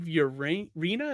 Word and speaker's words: Urena: And then the other guest tonight is Steve Urena, is how you say the last name.